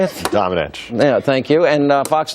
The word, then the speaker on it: Domenech: Domenech.